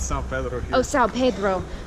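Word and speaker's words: São Pedro: Oh, Sao Pedro, right.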